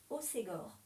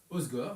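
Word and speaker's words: Hossegor: Et il y a un petit truc dont je voulais parler moi, sur, alors désolé pour la prononciation, Sorts Osegor. Osgore, bien sûr. Osgore.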